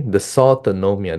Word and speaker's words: dysautonomia: Okay, dysautonomia, that's how you pronounce it, in COVID-19.